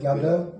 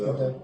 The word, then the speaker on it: Gadot: Gal Gadot. Gadot. I think it's Gadot.